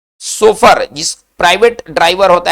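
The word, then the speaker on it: chauffeur: है उसको सोफर कहते उच्चारण इसका क्या होगा सोफर होगा चलिए तो इसमें याद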